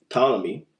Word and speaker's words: Ptolemy: Say it right. Ptolemy. There's no P, just say. When I write it, I just wouldn't put a T. And the P.